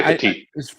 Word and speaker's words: Petit: Am I saying his name wrong? Okay, Petit.